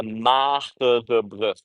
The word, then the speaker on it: Magere Brug: I know it's hard to pronounce that if you're not from over here. Maybe if you're, there are not a lot of people in the world that have the same hard G as we have, really the hard G.